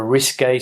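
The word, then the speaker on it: risqué: classified as risque okay uh he told a risque story about an affair that he had uh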